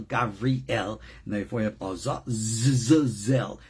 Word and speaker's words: Azazel: and therefore you have Azazel. It's not Zael, it's Zel.